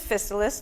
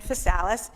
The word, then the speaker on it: Physalis: And there are 3 different pronunciations of Physalis. There's Physalis, Physalis, and Physalis. You pick the one you like. We say Physalis.